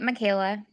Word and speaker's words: Michaela: is the name uh how do you say your name is it Michaela or MAA yeah you've got it Michaela Michaela okay taxi I love that